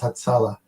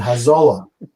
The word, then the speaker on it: Hatzalah: They couldn't pronounce Hatzalah. So they said Hazolah.